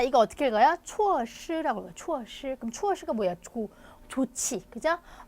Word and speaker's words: 措施: 措施라고 읽어요. 措施.